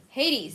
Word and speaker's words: Hades: Hades, yeah, Hades. We pronounce it so differently in Japanese. Hades is Hades in Japanese, so I can never remember the correct way to pronounce it in English, but...